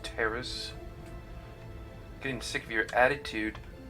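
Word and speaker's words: Taris: You mean you don't have a plan to get off Taurus yet? What have you been doing all this time? It's pronounced Terrace.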